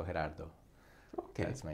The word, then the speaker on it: Gerardo: right actually it's a like Gerard with a no at the end and dispelling the phonetics would be G you change it for an age and that's it the soft G week on Spanish so her dad though ok that's my name